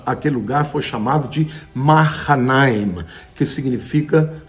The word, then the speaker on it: Mahanaim: No hebraico a pronúncia correta é Mahanaim.